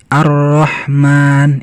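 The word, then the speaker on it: الرحمن: awal -awal pengucapan kalimat Arrahman ini kita baca alifnya terbaca tapi lamnya tetap tidak terbaca karena setelahnya ada tasydid maka lam di sini tidak terbaca sama seperti ini ini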